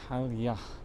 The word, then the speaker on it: Palya: And there we go, Palya, pronounced Palya, meaning hello, goodbye, thank you and welcome.